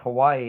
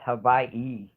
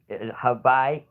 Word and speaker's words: Hawaii: And it's actually not pronounced Hawaii, it's pronounced Hawaii. You know, Hawaii, Vai.